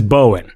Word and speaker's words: Bowen: But it is Bowen.